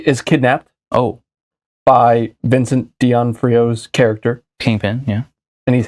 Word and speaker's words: D'Onofrio: I think how do you pronounce his last name? Vincent Farron? Oh no, I'm sorry. D'Onofrio.